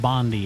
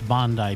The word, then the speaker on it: Bondi: Australia plans tougher gun laws after a Bondi beach attack and it's not pronounced Bondi, it's Bondi Beach attack.